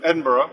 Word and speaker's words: Edinburgh: I'm on the bus from Newcastle to Edinburgh.